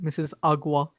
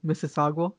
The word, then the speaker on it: Mississauga: uh mississauga canada yeah as uh president obama says it mrs agua does he say that he has an entire thing where like with justin trudeau or he can't actually pronounce mississauga wow and then justin trudeau's like mississauga mississauga god i still remember